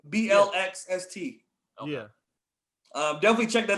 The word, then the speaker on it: Blxst: His name is Black. Spell it with an X. BLXST.